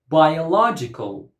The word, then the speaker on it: biological: Biological. Biological. Biological. 5 syllables and the stress goes on the third syllable.